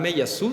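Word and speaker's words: Meillassoux: él es un filósofo del siglo XX cantan me yasu se pronuncia es un filósofo francés Ah que justamente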